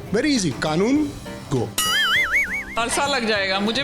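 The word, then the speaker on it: Kanungo: People call me Arjun कैंगारू। हाँ, हम लोग ने सुना अर्जुन कैंगारू के साथ ना, अर्जुन कैंगारू के साथ ना। But my surname is pronounced कानून गो। Very easy, कानून गो।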